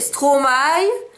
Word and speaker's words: Stromae: Donc vous devez prononcer Stromae comme si vous disiez aïe à la fin où il n'y a que maille qui maille. Voyez l'affaire. Stromae.